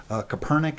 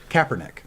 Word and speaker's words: Kaepernick: no matter how much success they're having with copernic i can't remember how to pronounce his name but kaepernick that's it kaepernick that is um he uh